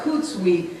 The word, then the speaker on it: Hootsuite: well as things like Hootsuite that allow you to be a little more forward-looking and schedule posts out. Yes? Could you spell that word? It sounded like Hootsuite or... Hoot, like an owl, hoot.